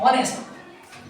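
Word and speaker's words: honest: एन फिर यहां पर एच साइलेंट है। इसका ऊपर क्या पढ़ते हैं हम लोग? ऑनेस्ट इसमें क्या होगा यहां पर?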